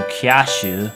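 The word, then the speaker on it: キャッシュ: Another example of this is the word cash, in which it's changed to kyashu.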